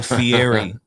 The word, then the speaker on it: Fieri: How do you say his name, bro? You said it right. Am I saying it right? Yes. Because why I want to say Fieri all the time? Is that just a Spanish in me? That's how it's pronounced.